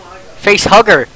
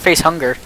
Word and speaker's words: facehugger: face hunger going ah facehugger it's not face hunger we've been saying it wrong all along wait do you die